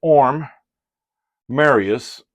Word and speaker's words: Orm Marius: here did I say his name correctly it's orm Marius uh orm let's bring the let's take the